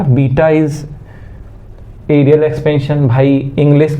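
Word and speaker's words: beta: मुझे समझ नहीं आता इसका स्पेलिंग होता है बेटा ऐसे लिखते हैं ठीक है लेकिन पढ़ा जाता है बीटा ठीक है ये भोजपुरी से बाहर है अंग्रेज लोग हैं इसी को हम लोग बेटा पढ़ते हैं हिंदी में और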